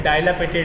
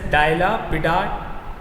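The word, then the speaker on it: dilapidated: है और या फिर डायलापेटेड है। डायलापेटेड मतलब क्या होता है, डायलापिडाटेड, दिस इज प्रोनाउंसिएशन एज डायलापिडाटेड।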